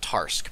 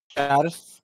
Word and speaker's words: Tarrasque: it's pronounced Tarsk because it's French, but yes, D&D also stole it and called it a Tarrasque. It's not Taras. Okay, it's not Tarask. Is not Taras.